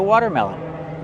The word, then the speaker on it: watermelon: Well, it's like two words together. You have the word water, right? You have the fast d water. Water plus melon. Melon. and use a short e sound like red and head. Meme melon. Then the close sound unun.